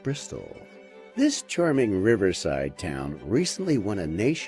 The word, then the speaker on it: Bristol: in the 1960s i've never thought of pistols being particularly sharp but they do rhyme with bristol this charming riverside town